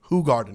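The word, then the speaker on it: Hoegaarden: on for two hours hoog Garden H Garden if you want to pronounce it correctly um it's actually out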